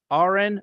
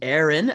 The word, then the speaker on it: Aren: everybody my name is Aaron people often say are in because it's uh it happens all the time my name is hard to pronounce don't worry about it